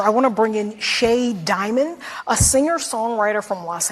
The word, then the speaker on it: Shea: Sir, ma'am, whatever your preferred pronouns are, why would you name yourself S-H-E-A and say it's pronounced Shea?